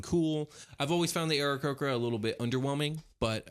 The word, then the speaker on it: Aarakocra: I actually don't know how it's pronounced, so I think I've been pronouncing it Aarakocra, but then someone pronounced it Aarakocra, and I was like, that kind of makes sense. They are bird people, and a cock is a male chicken, so maybe the inflection is just all wrong.